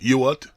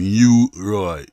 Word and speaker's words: Ewart: his um was trying to pronounce his correct name which is you what e-w-a-i-t and then the young the young relative keeps saying i'm trying to say you what but they're saying you right you right and they